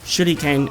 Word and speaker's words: shuriken: And yes, I know, shuriken is the way you say it in Japanese, but we pronounce it shuriken.